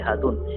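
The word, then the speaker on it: Hatun: রিমা রেজিয়া তুর্কি ভাষায় ধ্বনিত্ত্বের কারণে কিছু শব্দের উচ্চারণ পাল্টে যায় যেমন খাতুন হয়ে যায় হাতুন খুরম হয়ে যায় খুরম আমাদের জানা অনেক শব্দ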